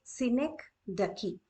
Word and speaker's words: synecdoche: Its pronunciation is synecdoche.